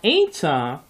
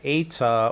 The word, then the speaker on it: eta: One small thought about the eta, when it is with a rough breathing, it is pronounced hey, hey, with a rough breathing.